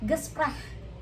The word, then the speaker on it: Gespräch: Nah, oke, jadi dari sini kita bacanya Gespräch. Gespräch. Sprech. Gitu kayak kalian ngerasa gitu kayak gitu. Gespräch. Karena ada CH. gespreh gitu, ada k-nya gitu loh, gespreh.